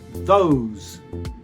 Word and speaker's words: those: Each time the tongue must come between, at the very start of the letter, the tongue comes between and then disappears into your mouth immediately afterwards, brushing against your teeth.